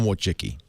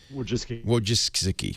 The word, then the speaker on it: Wojcicki: Larry Page is married to the very talented, how do you pronounce her last name? Ann Wojcicki. Wojcicki, whatever.